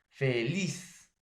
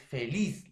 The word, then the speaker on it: feliz: Ahora, feliz. O es feliz. No, es feliz. La mayor fuerza de voz está en la última sílaba, profesor.